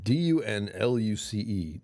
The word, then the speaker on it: Dunluce: D-U-N-L-U-C-E. Dunluce. Dunluce? There's no Dunluce. L-U-C, you know. Help. I don't know how to pronounce that.